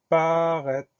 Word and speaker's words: paraître: Le dernier mot, c'est le mot paraître. Première syllabe pa, P-A. Deuxième syllabe ré, R-A-I. Alors attention, le son est s'écrit AI.